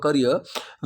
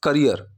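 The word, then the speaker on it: career: You started your करियर when you were 17 years old, या फिर you started your करियर when you were 17। और इसकी जो pronunciation, this is करियर, ना कि कैरियर।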